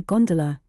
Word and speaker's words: gondola: by the way is known amongst the fraternity as a gondola with the second syllable emphasized and pronounced long but to return I